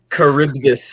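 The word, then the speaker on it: Charybdis: Kuribdus here, which is a respelling of an old I think it's a Greek mythology um se myth. It's spelled completely differently, but said the same.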